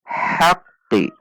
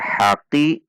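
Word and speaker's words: حق: Ha memasuki qaf. Haqqi, ada tekanan. Haqqi. Beginilah bunyinya jika diperlambat. hakqi. Jika dibaca sebagai " haqi", tidak ada tashdid.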